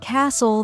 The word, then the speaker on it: castle: For example, in words like no, the K is silent, honest, the H is silent, and castle, the T is silent.